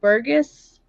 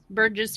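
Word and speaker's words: Berghuis: um newer case from 2010 and I'm gonna butcher the first last name it's um Burgess it's b-e-r-g-h-u-i-s versus Thompson Burgess versus Tompkins I actually uh no just a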